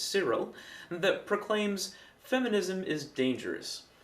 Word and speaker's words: Kirill: The Russian Orthodox Church has posted a speech delivered by head Patriarch Kirill (pronounced Cyril) that proclaims "feminism is dangerous".